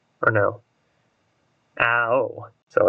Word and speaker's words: Ao: Ao. So it's like, I don't know how you pronounce that. It's A-O. It's like owl instead of owie.